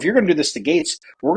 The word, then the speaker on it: Gaetz: it Gates or gats Gates is the way I hear it pronounced most often so she goes if